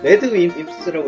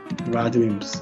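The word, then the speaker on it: RADWIMPS: 이거 레드 윈스라고 읽어야 되나? 너의 이름은도 얘네가 부르고. 네. 라드 윈스. 예, 맞아요.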